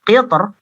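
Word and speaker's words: قِطْر: Kemudian qitr itu dibaca dengan tipis oleh Ibnul Jazari ya, seperti itu.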